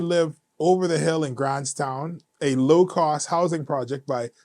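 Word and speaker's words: Grants Town: We don't pronounce the S for some reason.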